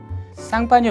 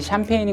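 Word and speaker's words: Champagne: 쌍파뉴 발음의 미국식 발음이 샴페인인 것인데요. 그렇게 작은 지역이 스파클링 와인의 대명사가 된 것에 대해 경이로운 마음마저 듭니다.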